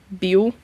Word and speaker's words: Build: Build, or as it's also kind of pronounced more like Buell. It doesn't get the full build, but you see it pronounced as build, but it's like Buell.